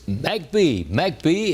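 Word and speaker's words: McBee: And the town happens to be pronounced MacB in South Carolina in Chesterfield County. Population 758. The area is 1.31 square miles. MCB South Carolina was actually named after railroad executive V.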